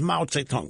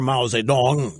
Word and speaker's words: Mao Zedong: for life in China he's as powerful as Mao Zedong was or Mao Zedong depending on your chosen preference of pronunciation and of course the drive-bys have a